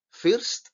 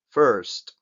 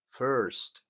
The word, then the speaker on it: first: esta palabra se pronuncia First First y es este sonido de la vocal veis es una especie de e pero s super cerrada First normalmente porque hay una r cerquita que le influye First lo repito muchas